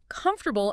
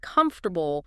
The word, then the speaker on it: comfortable: I remember a student who always stressed the wrong syllable in comfortable instead of comfortable.